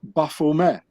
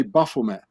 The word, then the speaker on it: Baphomet: be pronounced Baphomet, because the Knights Templars, they spoke French and not English. So the T at the end of Baphomet, it's not being pronounced in French, so you say Baphomet.